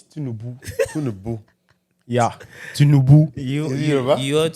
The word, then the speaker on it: Tinubu: No, it's Tinubu. Tinubu. Yeah, Tinubu. You ought to diss me. You can't even pronounce it well.